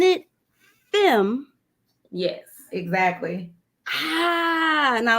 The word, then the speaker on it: FEME: gonna mess it up y'all now are you pronouncing it femme yes exactly ah and I was in there